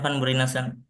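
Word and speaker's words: van Bruinessen: pencarian wacana baru karya Martin Van brunesen ini bacanya Gimana nih Mas Huda Iya Martin Van beron Oke Martin Van beron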